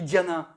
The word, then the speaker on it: dhyana: lui-même, c'est la déformation d'un mot sanskrit, qui s'écrit dhyana, D-H-Y-A, D-H-Y-A-N-A.